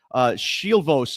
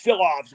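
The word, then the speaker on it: Šilovs: No, I looked it up. It's Silovs. We got it wrong on the podcast. Silovs, yeah. No, that's how we said it. That's not. There's like a silent H in there or something. It's like I don't Shilovs. care what's in there. I'm going with Silovs, and that's what the pronunciation guide on YouTube said.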